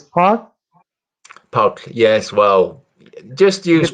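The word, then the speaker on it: Páll: the whole name yes see i'll pronounce it it's a part is with the k sound at the end yeah it's sort of like a double d and l in it it's it's a very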